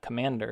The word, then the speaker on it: Cmder: So what I do is I use Commander. It's spelled CMDER.